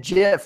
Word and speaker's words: GIF: you pronounce it and he said GIF like the peanut butter homie I don't know